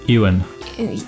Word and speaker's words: Ewan: Ewan.